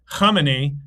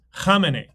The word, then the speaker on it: Khamenei: It's not pronounced Khamenei. It's pronounced Khamenei.